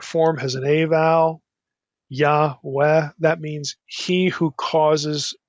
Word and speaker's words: Yahweh: And it's always with an A vowel, Yah, always. So Yahweh instead of Yeh-weh or Yeh-yeah.